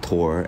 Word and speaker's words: Thor: it's I mean it's it's spelled like Thor but it's like t-h-o-r but I think it's pronounced Tor anyway Torah Hansen is